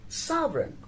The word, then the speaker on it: sovereign: n again here the word the letter g is silent and we have our sovereign in sovereign also g silent because it comes